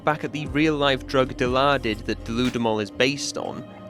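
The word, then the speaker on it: Dilaudid: Now, it's pronounced Dilardid, but when you look at the word, your first attempt would probably be deluded.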